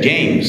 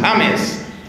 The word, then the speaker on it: James: cada vez más famoso James no lo pronuncia James sino James y James tiene millones